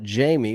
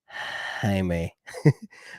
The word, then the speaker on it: Jaime: by my father's cigars you would call it Jamie because you're a rookie and all the people at the cigar humidor shop would know uh it's called Jaime Garcia and you gotta say it like that Jaime Jaime Garcia uh these are what